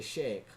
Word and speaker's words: Sheik: those terms it's really you don't say it like that you say shake right where they get